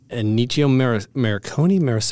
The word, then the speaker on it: Ennio Morricone: Composer's name was, I'm going to mispronounce it horribly. Ennio Morricone?